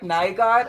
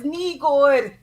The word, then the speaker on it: Nygård: So when you say like Nygaard, and I'm like, no, your name is Nygård, and they'll say like Ufta and everything, which is very Norwegian.